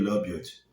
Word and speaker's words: Labyad: Mas eu queria falar um pouco da coletiva de apresentação do Zakaria Labiot, e é assim que eu pronuncio o nome dele, né? Segundo ele mesmo.